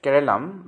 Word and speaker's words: Keralam: Kerala, pronounces Keralam by the local people, is bordered by Karnataka on the north.